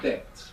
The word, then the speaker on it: debt: The English word debt, which is spelled D-E-B-T, has this B from debo. It comes from there. We don't pronounce it in English, of course, but this word is from Latin.